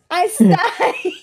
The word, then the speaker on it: Aes Sedai: Aes Sedai. Yes, Aes Aes Sedai. Sedai. Oh, sorry. That's another one that I think I was saying with multiple syllables that were like extra syllables until the audiobooks.